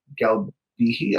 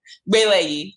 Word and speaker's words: Gbeleyi: You see Anthonia Ogundele and Galbihi. I think I may have mispronounced your last name. I know your first name. Say again. Gbeleyi, Gbeleyi.